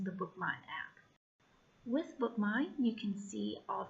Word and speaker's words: BookMyne: go to your App Store search for a book mine which is spelled via of K my and he and